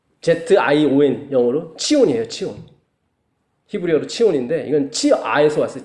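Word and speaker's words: ציון: 지온. Z-I-O-N 영어로 치온이에요. 치온.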